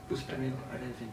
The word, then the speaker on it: Bustanil Arifin: How do I pronounce his name? Bustanil Arifin? Bustanil Arifin.